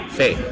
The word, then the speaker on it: Fei: I asked them, "How do you pronounce this?" Fate. Okay. Always try to get the player's name right.